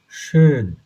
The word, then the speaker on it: schön: আপনি যদি ঠোঁটটা গোল রেখে যদি এ বলার চেষ্টা করেন, এ, তাহলে আপনার এই সাউন্ডটা বের হবে না। তাহলে এটার উচ্চারণ হচ্ছে schön, এ, schön।